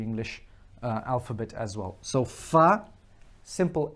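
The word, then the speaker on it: ف: And it is the equivalent to the F in our English language. The same pronunciation, the same articulation, the same makhraj.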